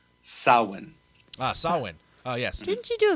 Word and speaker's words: Samhain: of her in October so I I've always pronounced it Samhain but you're saying it's saw Wayne it's a in the old Celtic it's pronounced saw one solid yes didn't you do a video on